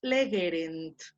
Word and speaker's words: legerent: Y por último, Ara, ¿cómo separas legerent? Sería le. Luego. Ge. Muy bien. Ge. Y queda ya al último, rent. Rent. Legerent. Sí.